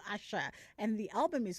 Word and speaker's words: Asa: um you know she she spells her name Asa but uh the the slight inflection then changes the pronunciation to Asha and the album is called Asher spelled ASha that came out in 2007.